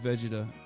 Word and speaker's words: Vegeta: you should be Vegeta yes I said Vegeta that's the right way to say it I I do love